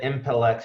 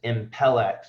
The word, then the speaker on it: Impelix: I said Impelix, but it's Impelix. I want to make sure I pronounce that right.